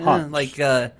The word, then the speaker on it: Hans: Hans. Like Hans Gruber from Die Hard.